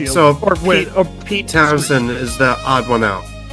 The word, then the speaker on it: Pete Townshend: Yeah, or it's uh it's pronounced Pete Townshend. Oh, it's pronounced Pete Townshend. Okay. Yep. I don't know why the H is in there. That's just how it is.